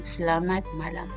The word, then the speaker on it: Selamat Malam: Learn Malay Unit 1, notice that I pronounce se, not si or say or se. Pronounce la as in la la land, and mat you may clip the T sound doing away with the sound like this, mat, or you can pronounce the T softly like mat. Pronounce ma as in ma in mama. Pronounce lam like I pronounced it.